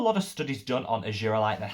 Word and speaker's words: Argireline: First and foremost, let's talk argireline. Argireline, different pronunciation depending where in the world you live, but this is phenomenal.